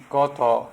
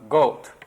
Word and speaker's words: Goto: your generous introduction uh my last name koto is spelled g-o-t-o and when i went to wabash college years and years ago some of my classmates would call me goat or high goat or